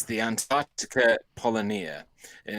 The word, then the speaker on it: polynya: Polonia. Yeah. No. I was thinking you could Google it now. That's what I meant by putting you on the spot. Okay. It's I'll do it's that. the Antarctica Polonia, and it's spelled Polynya.